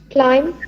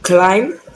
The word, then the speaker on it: climb: in the correct way climb climb home at a time climb lamp please in all these words the b sound is silent it's dead anybody else i think